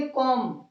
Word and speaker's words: comb: से पहले बी आ गया, इसको हम बोलेंगे कॉम, नॉट बी। इसका बी का उच्चारण नहीं होता है, साइलेंट होता है ये।